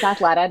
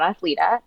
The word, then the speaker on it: Athleta: And it is Athleta, not Athleta, for anyone Yes, who's yes.